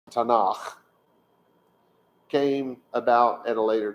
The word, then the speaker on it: Tanakh: time, which means that the acronym Tate, Nun, Chaf, pronounced Tanakh, came about at a later time.